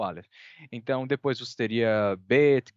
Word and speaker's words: Aleph: Ele representa uma consoante que é uma oclusão glotal, né? Seria um som de A, A. Não é a vogal que eu estou pronunciando depois, é uhum, a pausa, é a batidinha antes da vogal, né? Eu poderia pronunciar, por exemplo, A, pausa glotal e outro A. Ficaria A. Então, essa uhum. pausa, né, é o Aleph.